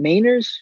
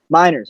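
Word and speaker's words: Meinerz: Is it Mainers, Andrew? Is that how you say his name? Miners, okay.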